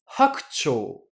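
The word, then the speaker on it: 白鳥: Et du coup, ce mot cygne, je vais le prononcer hakucho.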